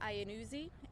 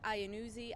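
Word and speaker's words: Iannuzzi: that um so my name is Lieutenant ianuzi and that is spelled mi re e y a last name is ianuzi i a n n u z zi and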